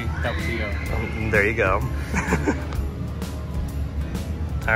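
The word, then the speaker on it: Tapatío: I say tapatio.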